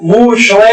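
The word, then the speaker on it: משה: معنوں میں آتا ہے، اور موسیٰ ہم عربی میں تلفظ کرتے ہیں، عبرانی میں موشوے ہے وہ، جس کے معنی پانی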